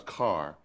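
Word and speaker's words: Kerr: Now, by the way, you've said a couple of times car. Is that the North Carolina pronunciation of cur? Yes. So you're referring to K-E-R-R? Yes, that's how we pronounce Okay, it.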